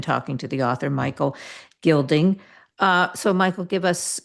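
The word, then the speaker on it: Guilding: Gilding spelled with a U like like building except with a G.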